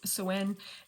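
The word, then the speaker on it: Samhain: Um it's uh called soen. I think the Irish pronounce it a little bit differently. Ga like it's so sen and uh in North America we just commonly uh celebrate Halloween.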